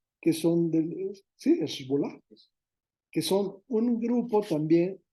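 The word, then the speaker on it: Hezbolá: posteriormente entra otro grupo lo voy a pronunciar Como creo que se pronuncia esbol que son sí esol que son un grupo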